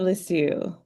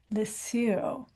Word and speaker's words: Lisieux: She's just all kinds of cool and her favorite saint is pronounce this name for me, Monica. I want to be sure. Saint Therese of Lisieux. Lisieux.